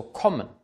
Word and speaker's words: kommen: kurz und geschlossen ausgesprochen es ist also kommen kommen es ist nicht komisch oder Koma es ist kommen ein geschlossenes kurzes o vor einem doppelkonzernanten oder Essen nicht essen